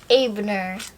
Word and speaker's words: Abner: something wrong Keith frolier Pablo Abner Pablo that's the husband of no the way you pronounce it is come in Canada is like Ebner oh Abner say hi